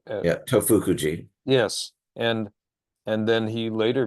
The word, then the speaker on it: Tofukuji: But because he felt that at, at, at, at Tofukuji, did I pronounce that right? Tofukuji. Okay, Tofukuji, Tofukuji.